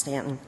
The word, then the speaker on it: Staunton: Now, Frances was born in Stanton, if you're from Virginia, spelled Staunton, pronounced Stanton, and grew up on a small farm.